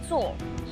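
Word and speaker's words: 坐: right M you know in mandrin sit is pronounced as to and the pictographic image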